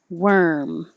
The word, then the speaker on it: worm: so o although and looks like an o but sounds like an e worm and the vowel is er like her which a lot of them